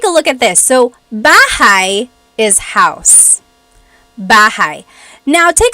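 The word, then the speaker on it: bahay: B but in talog the a y combination makes an i sound sound b b so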